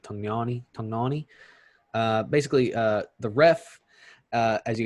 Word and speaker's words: Tognoni: So referee Chris Tognoni, it's Italian, so I think that's how you pronounce it. Tognoni.